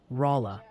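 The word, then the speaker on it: Rolla: It seems about half the internet has formed an emergency committee to inform you that Rola, Missouri is emphatically pronounced Rola. Maybe think of it like yalarola so it sticks.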